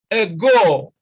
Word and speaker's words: ago: Then B is ago, ago. Now, again, you see that stress is on the second syllable.